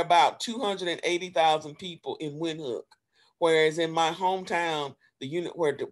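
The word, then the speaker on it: Windhoek: i usually just say when look i pronounce it like a w but you're supposed to pronounce it with a v so there are about 280 000 people in win hook whereas in my hometown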